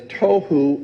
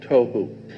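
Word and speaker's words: תֹהוּ: The two Hebrew words that are being translated there is tohu and vohu. Pronunciation, it would be T-O-E-W-H-O, tohu.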